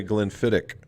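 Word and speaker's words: Glenfiddich: it said you know it's spelled glen fetich but they spell they say glenn fittick and i should have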